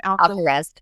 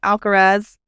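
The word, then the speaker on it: Alcaraz: Alarez. Thank you. Alcarez uh reclaimed his world number one with his US Open victory.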